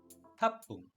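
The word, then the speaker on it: 八分: 8, hapung. Kung mapapansin nyo, yung double P or P at saka P, may stress sa pagbigkas.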